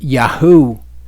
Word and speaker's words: Yahu: The difference is when you have the Yud Hey Vav at the beginning, it is Yaho. When you have it at the end, it is Yahu.